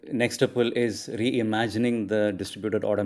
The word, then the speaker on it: Nextuple: So Das, you are the co-founder and head of product at Nextuple. Is that how I pronounce the company?